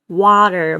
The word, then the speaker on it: water: 네, 그 다음에 water가 아니라 water. 모았다가 옆에 벌려주세요. 와입니다. water.